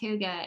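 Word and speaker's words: hygge: is spelled h y g g but it's pronounced Huga and I've got this book called the little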